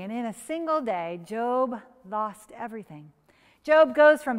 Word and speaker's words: Job: story of a man named job i mean job try convincing kids that you pronounce it job no it's job well once you get the pronouncement of his